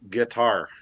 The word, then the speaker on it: GTR: is familiar with GTR, but it's supposed to be pronounced guitar.